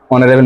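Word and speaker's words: honorable: অনারেবল ম্যান আগে অ্যান দি, কোনটা হতে পারে?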